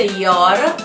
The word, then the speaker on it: Yoru: Il nome Yoru è una pronuncia giapponese Yoru, è una fonte abbreviata di un nome europeo, Yolanda.